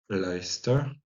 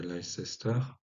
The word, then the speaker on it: Leicester: Euh, donc, Ligora-Chestre va devenir Leicester, hein, pas Leicester.